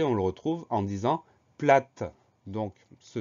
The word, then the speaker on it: plat: Et à la fin du mot, on a une lettre muette, c'est le T.